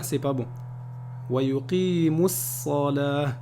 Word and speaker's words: ويقيموا الصلاة: ويقيموا الصلاة, c'est pas bon. ويقيموا الصلاة. Le waw ici, il est écrit, mais il n'est pas prononcé.